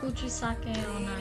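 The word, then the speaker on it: Kuchisake-onna: I think it's Kuchosaki Onna. Kuchosaki Onna. I think. Kuchisake Onna. Yes, I think that's how you say it.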